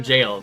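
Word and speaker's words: gaol: cuz I was like, "What what is a gal?" And then someone was like, "Oh, those are jails." And I was like, "Oh, yeah. I know. I I know it's jail because I know it's jail, but I say uh gal because of dark because of Kitakoras.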